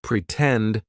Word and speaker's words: pretend: Pretend, for example. In the word pretend, the stressed syllable starts with T, tend, pretend, right? So, we're going to use the true T sound, and then we